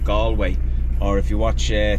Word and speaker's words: Galway: that we're going to is a place called gallway or if you watch uh tourists Vlogs it's they pronounce it gway gway to be honest with you we feel